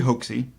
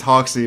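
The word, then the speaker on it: Hoxsey: medical fraud named Harry Hoaxey. I hope that's really how you pronounce it, Hoaxey. Yeah. I think it's Hoxey, but it would be hilarious if it was Hoaxey.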